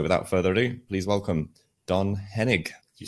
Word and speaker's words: Don Henig: So without further ado, please welcome Don Henig.